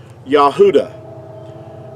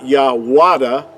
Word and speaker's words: Yahuda: Now, in our English, we say Judah, which is totally inaccurate because there's no J sound in ancient Hebrew, but the word uh Judah in our English word would be uh would be accurately would have been pronounced Yahuda.